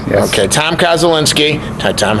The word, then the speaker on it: Koszulinski: Tom Koszulinski. Did I say it right? Correct, yes. Okay, Tom Koszulinski.